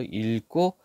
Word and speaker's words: 읽고: 뒤에 걸로 발음을 하는데 언제 뒤에 기억으로 시작하는 말 올때 뒤에 기억으로 시작하는 말이 올 때는요 앞에를 리을로 읽어요 그래서 읽고 이렇게 된다 알겠죠 자 여기 뒤에